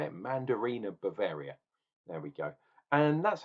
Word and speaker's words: Mandarina Bavaria: Apparently, there was Marina Bavaria. No, how do you say it? Mandarina Bavaria.